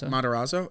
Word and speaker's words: Matarazzo: How do you pronounce his name? Matarazzo.